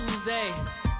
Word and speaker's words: Oozie: OOZIE, it's not Uzi, it's Uze. Say it like you're French.